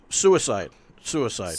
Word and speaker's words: Suicide: Is it Swiss Edgar? Or what Suicide. Suicide. The name comes from a Czech Palahniuk book.